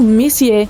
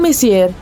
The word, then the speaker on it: Messier: Bom, o M significa Messier, pronunciado Messier e não Messier.